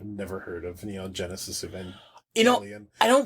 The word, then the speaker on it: Evangelion: Times I wish I just have never heard of Neon Genesis Evangelion. You know, I don't... That hard G sounds wrong to me.